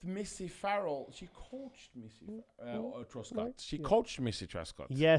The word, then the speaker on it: Truscott: And fitness class, nobody's is on the train harder than us for Missy Truscott. Oh, love Missy. Now pronounce the last right name Missy now.